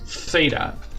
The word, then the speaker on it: theta: Just focus on the th sound. It's only this sound. Theta.